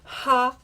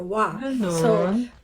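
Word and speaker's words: は: is pronounced as so it's written as ha but this can be both pronounced as ha or wah where is the toilet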